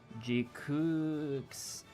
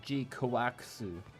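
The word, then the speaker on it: GQuuuuuuX: So like you read it and it's like Gundam G Kooks, but it's pronounced Gundam G Kawakusu.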